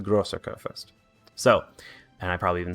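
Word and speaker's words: Großer Kurfürst: been pronouncing this wrong it is not goober kurfurst it is the grosser kurfurst so and i probably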